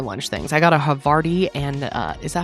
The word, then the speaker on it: Havarti: I got a Havarti and, is that how you say it? Havarti? Havarti. Thank you.